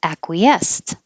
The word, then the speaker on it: acquiesced: pronouncing it correctly and i don't think i would have put stress on the end acquiesced acquiesced but i'm putting the stress